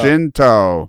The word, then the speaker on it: Guinto: Guinto. Ginto. Gin is the drink. Toe is your car.